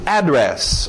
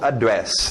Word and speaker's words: address: Address, ou address também. Duas pronúncias aí para o seu endereço.